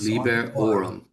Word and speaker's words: liberorum: Um accent on the orum. Yes. Lee orum.